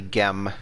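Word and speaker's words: gm: bending over and it's gem it's phonetically gem or in coptic it's chine so it's like the two consonants g and m and then you know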